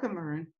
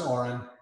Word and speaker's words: Oren: It's pronounced Oren, but Oren. However you want to say it is all good.